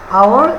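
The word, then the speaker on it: hour: আওয়ার, অ্যানটা অ্যান উচ্চারণ হয়েছে, আওয়ার এইচটা অয়ের মতো উচ্চারিত হয়েছে এই জন্য অ্যান বসছে।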